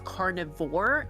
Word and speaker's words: carnivore: The reason why carnivore versus carnivorous is pronounced differently is because the E is silent and it changes the I sound. And that is why it's carnivore and carnivorous.